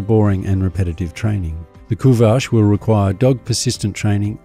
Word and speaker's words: Kuvasz: Kuvache. During the Middle Ages, the Kuvache, pronounced Ku-Vache, was transported to Hungary and used as a livestock guardian.